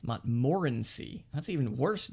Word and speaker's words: Montmorency: George, William Samuel Harris, and myself, and Montmorency.